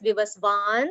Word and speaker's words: Vivasvan: word is pronounced as vivasvan because that's the bar on the a and ikshvaku okay so